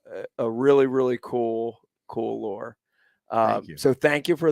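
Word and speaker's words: Lohr: lore by um lore's lore yep Jerry Jerry lore yep that's his name not like lore but it's spelled different l-o-h-r that's correct uh and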